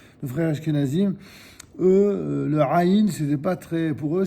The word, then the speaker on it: Aïn: Aïn, c'est comme prononciation qui vient du fond de la gorge, comme ça, comme un gargarisme.